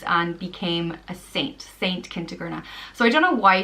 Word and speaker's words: Kentigerna: The next name is Kentigerna, and it means kind ruler, and it's pronounced Kentigerna. Kentigerna.